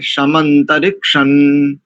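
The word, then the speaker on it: शमन्तरिक्षं: दूसरा, सर्वत्र संहिता में, संहिता पाठ में इसका सर्वत्र उच्चारण मकार ही नहीं करना चाहिए। तो यहाँ पर इसको रिक्षण ऐसा करेंगे, समंतरिक्षण।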